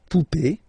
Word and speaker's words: poupée: and then here, okay, remember this final is not pronounced, so you will have this e, remember accent aigu, it's e sound, okay, la poupée, the doll, l'arrivée, the